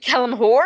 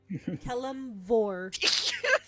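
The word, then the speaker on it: Kelemvor: Wait, Kelimhor? Did you say Kelimhor or Kelimvor? Kelimvor. Vor. You said Keller first.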